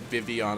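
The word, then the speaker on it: Vivillon: Premiere okay Vivion here I thought like Austin John was making a big mistake calling it Vivian I'm like what the heck and now I learned that's the actual pronunciation lousy lame Leighton lethargic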